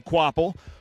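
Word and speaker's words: Kvapil: So it is pronounced Carson Quapple.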